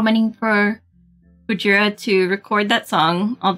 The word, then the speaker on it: Gojira: How many for Gojira to record that song?